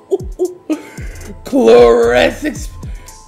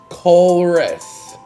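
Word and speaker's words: Colress: Gloom, Meditite, Squawfit, Gligar, Phantom, Sudowoodo, Bilbuck, Chloresix. Keep pronouncing it wrong. It's Chloress.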